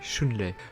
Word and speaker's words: Shunrei: Ici, dans cet épisode, nous avons le droit à un long épisode autour de Shunrai qui se prononce en réalité Shunlei.